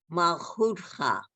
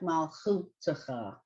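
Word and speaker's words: מַלְכוּתְךָ: actually, it would be pronounced more like Malchutacha. Malchutcha. Right. If there was no dot here, then it would be like you were pronouncing it, Malchutacha.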